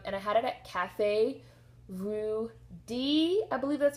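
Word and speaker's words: Café Rue Dix: e d iix so I'm assuming that's D and not dicks not Cafe rud dicks I'm assuming it's Cafe rud D um please feel free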